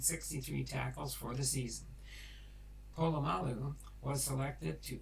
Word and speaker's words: Polamalu: Pronounced Polamalu.